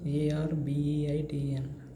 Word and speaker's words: arbeiten: So the pronunciation of this word becomes in German, in English it is arbeiten, but in German the pronunciation becomes ARBEITN, arbeiten, because E and I gives rise to the sound pronunciation of I, right?